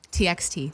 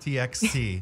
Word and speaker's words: TXT: TXT. TXT.